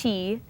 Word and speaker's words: qi: flip this over so this is the word chi spelled Qi pronounced Chi um so Chi is